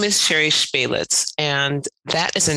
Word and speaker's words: Spelic: a very special guest sherry spellick did i pronounce that correctly it's baylets you know here it